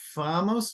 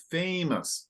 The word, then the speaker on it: famous: the second word it's you said famos but it's famous so more open Age please famous very